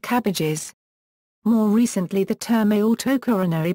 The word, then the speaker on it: CABG: The most frequently used acronym for this type of surgery is CABG, pronounced cabbage, pluralized as CABGs, pronounced cabbages.